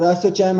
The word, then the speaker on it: ASSOCHAM: of Indian Industries and the asoc cam or assocham as it's pronounced uh to Champion the